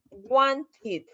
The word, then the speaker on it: wanted: fácil, porque de plano, si mi verbo es regular y termina con T, por ejemplo, want, que es querer, entonces yo sé que lleva ed y lo voy a pronunciar wanted.